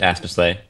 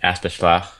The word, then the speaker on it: Aspeslagh: weird country i'm astorsley it's pronounced we pronounce it aspersley the uh flemish speakers in belgium pronounce it aspeschlach and um we think it may have originated